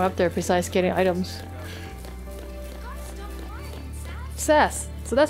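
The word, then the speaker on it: Sazh: we bother going up there besides getting items sess so that's how you say his name sess anything on either sides of these things oh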